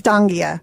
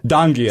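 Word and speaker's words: Donghia: n g h i a i dang that's Danga Danga so yeah so that wasn't so I I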